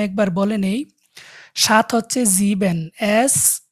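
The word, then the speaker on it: sieben: revise করব আমি একবার বলে নেই সাত হচ্ছে জিবেন এস ই এ বি এন জিবেন জিবেন মানে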